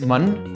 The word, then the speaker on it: Mun: i i i connect i pronounce it mun because i remember that from the game though they spelled it mun instead of moon hey andrew is it